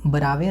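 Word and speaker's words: बरवै: मंगल जानकी मंगल और बरावे रामायण बवे होगा यहां प मिस्ट है फिर है वैराग्य संदीपनी और कृष्ण गीतावली देखिए य बरवे ही होगा बरवे रामायण ठीक है बवे नहीं होगा बरवे इसी प्रकार स्पेलिंग है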